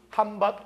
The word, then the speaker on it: 한밭: 그래서 이걸 뭐로 읽으면 음으로 읽으면 대전이 되지만 옛날에는 뭐라고 읽었어요? 이걸 한밭.